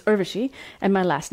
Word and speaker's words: Urvashi: my name it's pronounced Urvashi which rhymes with hershey it is not Urvashi it's Urvashi and my last name